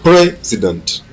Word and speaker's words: president: L'accent est mis sur la première syllabe a president. A president.